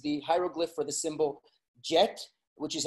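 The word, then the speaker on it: Djet: is that is the hieroglyph for the symbol jet which is how you pronounce it and what you see on top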